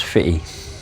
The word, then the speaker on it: Footdee: It's It's a place called Foot D, locally pronounced as Fitty.